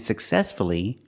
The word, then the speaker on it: successfully: So with words like hopefully, respectfully, and successfully, we pronounce the U.